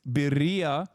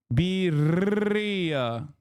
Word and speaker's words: birria: Oh, it's birria. Wait, what? Birria. Am I saying it wrong? Roll the R more? Fuck you mean? I'm rolling it.